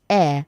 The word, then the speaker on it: heir: It is silent in the word h e i r. So you say air not air.